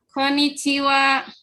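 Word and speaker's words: こんにちは: uap kalau hiragana hal tapi kalau dibacanya WhatsApp Konnichiwa coba diucapkan Kakak Konichiwa Konichiwa Konichiwa Konichiwa dengar sendiri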